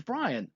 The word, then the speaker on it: Bryan: Bryan, which rhymes with lion and a near homonym of lying, was known for his